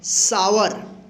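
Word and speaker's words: sour: सावर आर ओ डब्ल्यू रो।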